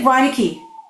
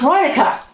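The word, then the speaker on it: Reinecke: You will hear people say Reineke. It's pronounced Reinica, okay? It's Reinica. It's not Reineke.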